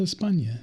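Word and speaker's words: España: things this is Spain how would you know it's called Espana it's easy like no we don't have the Inya in our in our language in our in our language well not in our language either but in our alphabet um you know a little tilde over the end my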